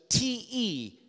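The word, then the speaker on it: τε: the Greek there's a there's a a conjunction te T is how you'd pronounce that and most of the time in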